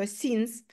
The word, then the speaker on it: since: Це не science, будь ласка, це не наука, воно інакше пишеться. Це слово читається дуже просто. Since.